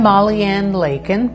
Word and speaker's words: Maleikin: Hi everybody, I'm Maleikin, rhymes with bacon.